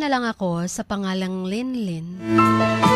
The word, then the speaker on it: Lingling: Chin, itago niyo na lang ako sa pangalang Linlin. Silent G from Lingling.